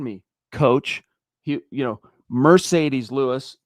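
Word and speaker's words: Marcedes: And, uh, it's kind of interesting that Mercedes Lewis, pardon me, coach, he, you know, Mercedes Lewis, pardon me, even though it's spelled with an M A R.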